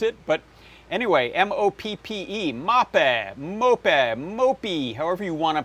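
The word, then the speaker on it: MOPPE: probably is fairly close to the Swedish one mopi I think mopey is how the the the the computer on the on the Google pronounced it but anyway m-o-p-p-e mapa mope however you want to pronounce it uh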